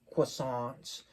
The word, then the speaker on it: croissant: that are made by or croissants as we say them, as a lot of people say them in America, but it's really croissant is the French way to pronounce it. You kind of have to roll it with your tongue, croissant. But anyways, yeah, experience those,